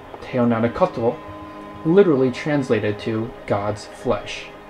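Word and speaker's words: teonanácatl: It certainly didn't help the Aztecs that their word for mushrooms, pronounced teonanacotl, literally translated to God's flesh.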